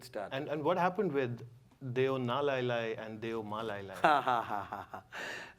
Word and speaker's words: deu nalai lai: It's a Nepali thing, and it's Deo Na Lai Lai. There's no Deo Malai. There's no Malai in Nepal.